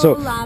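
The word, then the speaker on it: Kahoʻolawe: It's a hard name to pronounce. Kaholave.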